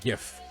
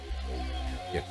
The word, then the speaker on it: GIF: have have a little gif gif of a map. And I'm not calling it a GIF cuz the guy who made it said, "No, it's pronounced GIF."